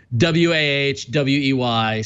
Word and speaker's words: Huawei: But that is an official video from Huawei with their pronunciation, Wahwey. So everyone complained that we're mispronouncing it. It's Huawei.